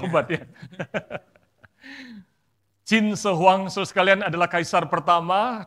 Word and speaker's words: 秦始皇: Terus kalian ada seorang kaisar di China, 在中国有一个皇帝， namanya Qin Shi Huang. Betul ya bacanya Ya. begitu Pak ya? 名字叫秦始皇， Bukan Pin Shi Huang, saudara. 不是骗子 Itu 皇。 obatnya. Qin Shi Huang, saudara sekalian, adalah kaisar pertama dinasti Qin.